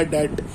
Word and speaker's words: debt: क्या कहते हैं, बैड डेट एक्सपेंस। बैड बुरा, डेट DEBT वाला डेट, बी साइलेंट रहता है, डेब्ट नहीं पढ़ते, क्या पढ़ते हैं? डेट, DEBT को डेट, बैड डेट एक्सपेंस।